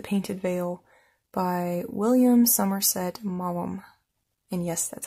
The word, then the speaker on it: Maugham: novel called The Painted Veil by William Somerset Maugham and yes that's how you say his name